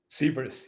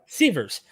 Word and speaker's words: Sivers: Is it Sivers, or am I saying it correctly? Sivers, yeah. Sivers. Correct.